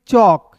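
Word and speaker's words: chalk: पढ़ेंगे चौक। क्लियर है? फिर देखिए दोस्तों टी का ट और के का दोस्तों क। एल साइलेंट होगा और इसके पहले ए है तो इसका उच्चारण औ के रूप में।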